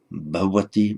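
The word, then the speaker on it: भवति: On its own, intervocalically, that's between two vowels, probably like a v, bhavati, bhavati. Sometimes in modern India, you'll hear it pronounced like an English word, bhavati, but we'll stick to bhavati, bhavati.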